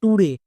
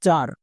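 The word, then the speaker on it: lecture: যেমন দেখো লেকচার বাট এই ওয়ার্ডটিকে উচ্চারণ করতে গিয়ে অনেকেই ভুল করছো। কেন? কারণ টি ইউ আরই। এই ওয়ার্ড প্যাটারনটিকে অনেকে চিনতেই পারছো না। উচ্চারণ করছো টুরে। টরে উচ্চারণ হবে না। এর উচ্চারণ হবে চার।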